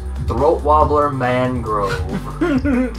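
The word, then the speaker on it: Raymond Luxury-Yacht: no it's spelled raymond luxury yet but it's pronounced throat wobbler mangrove he looks like an alien already just black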